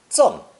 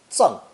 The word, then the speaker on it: 赠: Pronounced 4th tone, 赠, 赠.